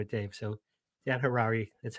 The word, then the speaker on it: Harary: Dan Harrari rhymes with Ferrari the car. That's how I That's how I remember it, Dave. So, Dan Harrari, that's how I remember.